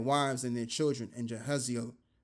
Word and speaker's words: Jahaziel: And all Judah stood before the Lord Yahweh with their little ones, their wives and their children, and Jehaziel, which I believe the pronunciation is Yachaza'Allah.